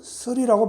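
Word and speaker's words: 契: 오늘 이 계약한다 할 때는 계약할 계자지만은 매절계 사람 이름일 때는 설이라고 발음을 해요.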